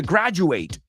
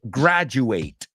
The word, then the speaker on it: graduate: say okay so the the verb is to graduate I didn't even speculate rhymes with graduate so he graduated he graduated last year now he's a graduate The Graduate well here's